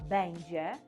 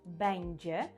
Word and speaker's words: będzie: Натомість форма бендже, повторюю за мною, бендже.